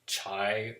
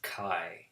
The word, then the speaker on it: chi: It looks like chai or chi, but it's pronounced chi. It rhymes with thigh or my chi-squared.